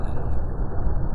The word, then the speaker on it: Said Aqil Al-Munawwar: Memang bacanya harus menurut Said Aqil Al-Munawwar. Karena sekali salah Said Aqil Sirat.